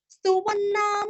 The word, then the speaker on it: स्तुवन्नाम: भीष्म उवाच जगत् प्रभुं देवदेवम् अनन्तं पुरुषोत्तमं स्तुवन्नाम सहस्रेण पुरुषस्ततोत्थितः।